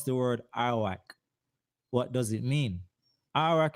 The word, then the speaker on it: Arawak: How do you pronounce the word Arawak? What does it mean? Arak is pronounced air awak. Sometimes you will see it spelled Arawak, like that, or Arahuako. Harahuako. That's another pronunciation, or Aruak instead.